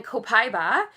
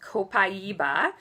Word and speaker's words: Copaiba: And then Copaiba, which is actually pronounced Copaiba.